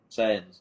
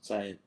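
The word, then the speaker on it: Saiyans: the super saian yeah sayans sayans not Sayan I'm sorry I'm sorry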